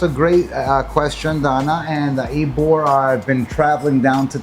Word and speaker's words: Ybor: So it's spelled Ybor, but it's called Ybor. Ybor. Which makes me think of Igor, like Igor, right?